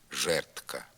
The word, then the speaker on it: жердка: борідка ладком медком садком не вимовляється д тільки в слові жердка воно заміняється звуком Т жертка повторюйте за мною віз